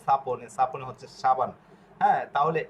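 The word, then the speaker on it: sapone: সা পি অ প এন এ এন এ সাপনে, এভাবে যদি ভেঙে ভেঙে পড়েন তাহলে আপনার উচ্চারণ একদম ক্লিয়ার হয়ে যাবে।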